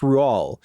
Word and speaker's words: Roald: Uh, but apparently it's pronounced Ruall.